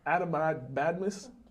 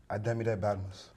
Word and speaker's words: Ademide Badmus: I'm gonna mess up his name probably, but Ademide Badmus. That wasn't close, huh? Nah. Pronounce the name for the people. Ademide Badmus.